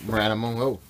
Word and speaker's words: MrAnimal Farm: a mer animal farm it's spelled like mr animal farm but it's pronounced maranamo you say your name